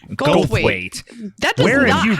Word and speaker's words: Goldthwait: Bobcat Goldthwait. Goldthwait. That does Where have you been? That's not even like. Do you think I literally talk about this person all the time? Bobcat Goldthwait?